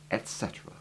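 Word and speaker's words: et cetera: It is almost always found abbreviated to etc, full stop, in writing, but it is always pronounced in full, etc.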